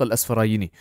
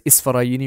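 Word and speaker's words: الأسفراييني: of Imam Abu Ishaq al-Asfarayini, right? And there's a difference of opinion whether it's Isfarayini or Asfarayini, but our teachers and our shuyukh have said that it is the correct pronunciation is Al-Asfarayini.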